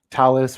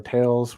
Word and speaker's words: Thales: will start off with Talus or Tales regarding however you want to pronounce that, Thales.